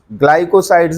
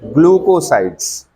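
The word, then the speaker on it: glucosides: ग्लूकोसाइड्स। ग्लाइकोसाइड्स नहीं, क्या उच्चारण है इसका? ग्लूकोसाइड्स।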